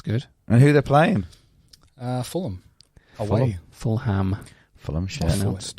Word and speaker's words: Fulham: Fulham.